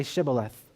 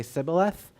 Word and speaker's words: Shibboleth: out the Ephraimites say Shibboleth and the Ephraimites could not say the Sh pronunciation and they would say Sybil a--the and they would destroy